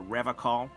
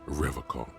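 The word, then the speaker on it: Revachol: I've been tempted on occasion, but someone has to stay strong for Revacol. He pronounces Revacol with a hard K, unlike other people.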